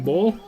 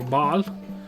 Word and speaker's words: Baal: Shrine to Baal, their primary god, being Baal, or Baal, depending on how you want to pronounce it, gives happiness 5% and low 5%.